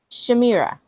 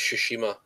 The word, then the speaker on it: Tsushima: All right, next game is, and forgive me if I pronounce this wrong, Uh, Ghost of Shimira. I think it's Tsushima.